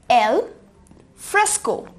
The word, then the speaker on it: alfresco: अब हम आ जाते हैं अपने नेक्स्ट पॉइंट पे, ALFRESCO, जिसे आप प्रोनाउंस करेंगे एज एल फ्रेस्को, एल फ्रेस्को, एल फ्रेस्को।